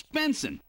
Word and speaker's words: Benson: Benson.